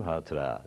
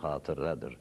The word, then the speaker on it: hatıra: hemen burada dokundur ereyim hatıra değil o kelimenin telaffuzu hatıradır sonundaki a kısadır herkes bunu bile bile